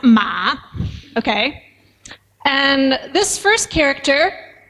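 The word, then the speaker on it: 马: more abstract but anyway this means horse and is pronounced ma okay and this first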